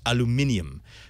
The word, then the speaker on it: aluminium: the chat room that if I had class it would be pronounced aluminium but beyond that it's